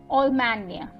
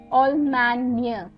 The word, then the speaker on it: Allemagne: The first example is Allemagne. Allemagne, right? The GNE is where I'm pronouncing the near, right?